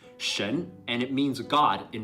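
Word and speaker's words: 神: It's pronounced shen, and it means god in Chinese.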